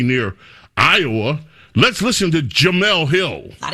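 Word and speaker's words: Jemele: Ji Jamal.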